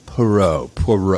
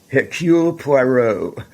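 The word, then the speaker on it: Poirot: for I can never say his name right Perot it's more of a procure puero your Q Peru you can't say that without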